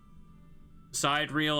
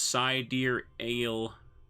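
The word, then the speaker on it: sidereal: Side reel is pronounced as side dear ale.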